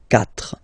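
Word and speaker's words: quatre: Remember in French the rule is that if you start with, well, if you get this combination Q, U, A, well, you will pronounce it K, K.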